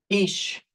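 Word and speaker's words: איש: man is ish spelled like this and is pronounced ish.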